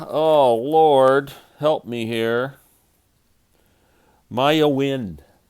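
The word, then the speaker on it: Maiah Wynne: name is maya oh lord help me here maya wind it's spelled m-a-i-a-h when w y n n e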